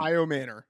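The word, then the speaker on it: Ayomanor: Iomanor. Yeah, okay. Yeah. So Iomanor has a 60 utilization score to 62 from Ridley.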